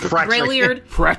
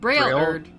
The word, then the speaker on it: Braillard: just think of Braille, like blind people touch, and then add a "erd" on it. Braillard.